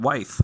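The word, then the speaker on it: Wythe: in a flurry of how you pronounce this wife County Ewing's yeah W ythe what wife yeah so multiple people across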